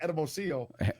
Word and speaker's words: Hermosillo: It's pronounced Hermosillo, but it looks like Hermosillo.